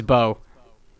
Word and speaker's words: Beau: It's Bo. Well, that was gonna be my first guess because I know Bo Burnham, the comedian. It's spelled Beau.